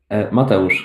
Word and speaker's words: Mateusz: is that how you pronounce it? Mateusz, but you can call me Mati. Mateusz. Mateusz.